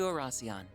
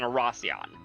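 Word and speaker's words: Oración: Arasion, the former capital. We finally made it to Arasion.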